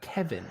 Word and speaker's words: Caoimhin: As far as isn't it meant to be something like Kevin or close to Kevin?